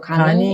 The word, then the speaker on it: GANNI: GANNI인데 이게 간니구나. 근데 겠니? 가니라고 읽더라고. 가니.